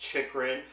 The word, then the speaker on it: Chychrun: it's a bit difficult, but yes, it is pronounced Chychrun.